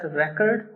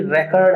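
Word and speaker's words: record: To remain busy with your work, to keep running to सेट रेकॉर्ड। ये भी रेकॉर्ड है, इट्स नॉट रिकॉर्ड, ध्यान रखना, इट्स a noun here.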